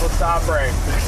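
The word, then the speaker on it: LeSabre: It's actually pronounced Le Sabre.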